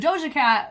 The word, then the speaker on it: Doja Cat: be so wrong I'm I'm so sorry but DOA cat that's that's how you say her name but